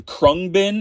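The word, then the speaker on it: Khruangbin: a solo album again krung bin is how you say that but definitely check them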